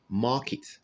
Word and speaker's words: market: The word is pronounced market. Market. Okay, not market, but market.